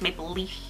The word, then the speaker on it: Maplelea: the F so it's Maple Leaf like you're about to say leaf and you don't um the I've heard just the a is silent think about you know the a just not being there um so Maple Le